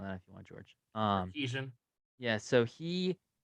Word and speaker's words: Sarkisian: coach Steve Sarkisian, which you can repeat the pronunciation on that if you want, George. Sarkeesian.